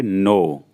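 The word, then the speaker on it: know: इसमें भी के साइलेंट होती है, तो इसको हम पढ़ेंगे नो, NOW। वैसे अगर हम पढ़ें तो नाव होता, लेकिन यहाँ के साथ में, तो इसलिए हमारा पूरा वर्ड होगा नो। के साइलेंट है, फिर भी हम नो पढ़ेंगे।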